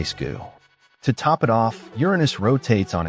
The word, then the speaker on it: Uranus: Uranus. Yes, we're pronouncing it the funny way.